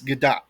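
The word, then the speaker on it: Gadot: I don't want to um actually you Raph, but you pronounce the T. It's Gdat.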